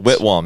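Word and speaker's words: Whitwam: i was going to jack it up so whitwarm is that that's how you say it with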